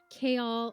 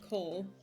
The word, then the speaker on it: Chaol: Kaol. I mean, Dorian is fine. That's like very normal, easy to pronounce. It's phonetic. But Kaol, that one, there's so much controversy. Like the leafy green.